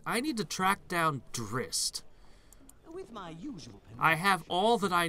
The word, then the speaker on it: Drizzt: asking that last time I've always pronounced it dressed but I heard characters in game pronouncing it Drizzt oh I may be it technically is Drizzt but either way we